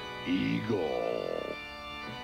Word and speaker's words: Igor: Appalling's laboratory assistant, Igor. That rhymes with Seymour.